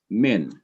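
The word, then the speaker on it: מן: unmute unmute yourself okay this is min it's only one syllable and it consists of a consonant followed by the short vowel kerik which is an a sound a short i sound followed by the consonant noon and because it has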